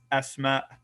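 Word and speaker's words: أسماء: You're always going to pronounce the hamza in the plural form. Asma, asma.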